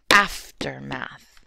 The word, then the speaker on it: aftermath: they're pronounced so differently path is emphasized whereas aftermath the F is emphasized it's a dactyl so it's aftermath and then I was